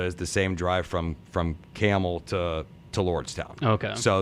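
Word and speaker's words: Campbell: It's spelled like the soup, but we don't say it. We and so the same drive from Okemos to Lansing Delta is the same drive from Camel to Lordstown.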